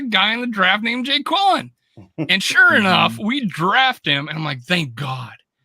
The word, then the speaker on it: Jaquelin: Jay Quellen. Some of people are calling him Jacqueline, but I'm like, this looks Jay Quellen to me, man.